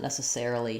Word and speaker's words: necessarily: So in ne, sa, or necessarily, our stress falls before the necessaire, the air syllable, the ser syllable.